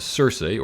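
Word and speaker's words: Circe: that glowing unit is Cersei or the Greeks would have pronounce it more like Kirk from The Odyssey who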